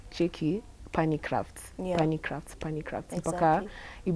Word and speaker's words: Punny: We used to do polls on our Instagram and ask guys, how do you think it's pronounced? And so many people used to write puny.